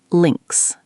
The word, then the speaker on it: links: In German, left is links. Can you try saying that? Links. Perfect, Devendra. The I sound is short, like in sit, and the S at the end is like a Z sound. Links.